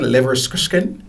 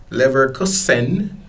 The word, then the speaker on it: Leverkusen: That's how you pronounce that? Leverkusen? Leverkusen.